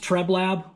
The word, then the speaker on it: Treblab: uh right here you can see it it's pronounced treblab which i think is kind of interesting because